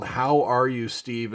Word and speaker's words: Howe: All right, this one's called How Are You, Steve? And it's spelled H-O-W-E, so that must be Steve Howe, if I have that right.